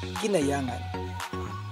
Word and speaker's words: Guinayangan: Mas kilala ngayon bilang Ginyangan. Ang mga lokal ay binibigkas ito nang wala ang unang letra ng A, kaya nagiging Ginyangan.